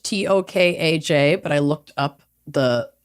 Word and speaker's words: Tokaj: It's Tokaj, which looks like Tokaj, Tokaj, but I looked up the pronunciation.